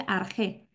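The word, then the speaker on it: ἀρχή: y es enarge arge arg esta palabra se pronuncia arge no arg era de hecho el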